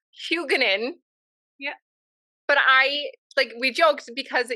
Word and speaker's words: Huguenin: We were just kind of giggling, you guys, because Nicole's last name is kind of hard to pronounce, honestly, and so it's Huguenin.